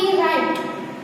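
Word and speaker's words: write: Okay, फिर WRIT, राइट। Okay, तो यहाँ पे राइट बोल रहे हैं लेकिन W का प्रोनाउंसिएशन साउंड नहीं आ रहा है, तो W को हम यहाँ पे साइलेंट रखेंगे, राइट।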